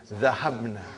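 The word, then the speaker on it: ذهبنا: Now, how do you pronounce? Zahabna.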